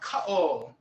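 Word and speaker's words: kaʻo: This little guy is called an okina, a glottal stop. So if that weren't here, you would pronounce this kao, right? But because it is here, it's actually a consonant for glottal stops. You say ka-o.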